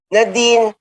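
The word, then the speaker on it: Nadeen: I mean, some people they say Nadine or yeah, some people say Nadine, but it's Nadine for me.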